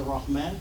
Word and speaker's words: Rahman: A lot of people say man. And the word is Rahman. But when you syllabicate, you're going to hear that ma is a syllable, and then the noon goes with the next syllable.